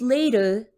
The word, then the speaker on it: later: so first my pronunciation remember that t is almost always becoming that sound of d when we have a two syllable or longer word so in the word late you do hear the t but in the word later later you don't hear a strong t in the middle when i pronounce the